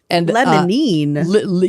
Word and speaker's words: limonene: Limonene?